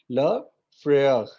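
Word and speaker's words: le frère: रॉ का थोड़ा सा ख का साउंड आएगा, ल फ्रेयर.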